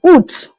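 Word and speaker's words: août: August in French is oot. A o u with the accent at the top of the u then t.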